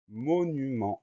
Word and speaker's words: monument: Première syllabe, mot, M-O. Deuxième syllabe, nu, N-U. Troisième syllabe, ment, M-E-N-T. Alors on va avoir le son en qu'on écrit E-N, d'accord, et la lettre muette T à la fin du mot qu'on va retrouver dans monumental.